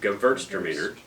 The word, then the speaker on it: Gewürztraminer: The secret to pronouncing Gewürztraminer is to say it fast and slur it, in case you don't. Drink a lot too. You're doing That's it. right. The W is a V, Gewürztraminer.